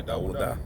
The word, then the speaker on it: Dawuda: You know, that's how you say David in Hebrew. That's your name? Yeah, Dawuda. Yep, that's his name. His middle name is Salih, so everybody call him Salih. But how you say his name is Dawuda, and his son name